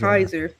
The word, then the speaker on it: Caesar: Kaiser. That's right. Well, you know, it should be Caesar. Yeah, but they pronounce it wrong.